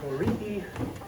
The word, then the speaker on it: torii: Torii, sometimes it's pronounced tori, but typically torii, what this is the threshold as we enter into the shrine.